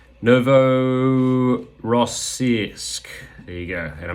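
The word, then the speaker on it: Novorossiysk: place and I'm going to go for the pronunciation Novo rossisk there you go and I managed to pronounce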